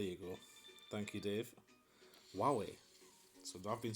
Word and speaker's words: Huawei: Huawei is how it's pronounced. There you go. Thank you, Dave. Huawei.